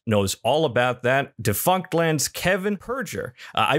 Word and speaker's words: Kevin Perjurer: Defunctland Kevin Perjurer. I pronounced that correctly, yes?